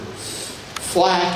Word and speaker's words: Flak: Flak is actually a contraction from a German word, Flugzeugabwehrkanone, F-L-K. And it's pronounced Flak because it's easier to say it that way.